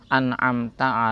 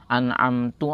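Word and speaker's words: أنعمت: Huruf ta Dalam lafaz anamta alaihim sehingga dibaca menjadi anamtu alaihim atau misalnya mengganti huruf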